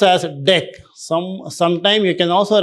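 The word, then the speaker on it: deque: Here DQ DQ pronounced as deck. Some sometime you can also refer as pronounced as deck.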